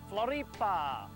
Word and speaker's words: Florianópolis: other right here in Florianopolis or as the locals say Flor this weekend absolutely beautiful